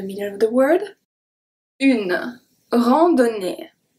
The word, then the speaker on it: randonnée: AN make the sound en, the O is a short O, is a close O, rando, do, ne. So here we could think that ON is going to be pronounced as on. It's not the case because we have two N. So the two N are pronounced just like regularly. We pronounce every single letter.